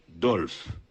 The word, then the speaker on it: Dolphe: Dolphe s'écrit D O L P. Alexis Dolf. Alexis qui dit ça ? Dolphe. D O L P H Dolf. H OK H Numéro 16 Périclè isquet.